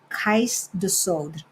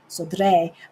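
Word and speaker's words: Cais do Sodré: It's spelled Cais, another word, Do, and then Sodre is how we would pronounce it in Spanish, kind of. Sodre, but they don't pronounce it that way. So it's Sodre.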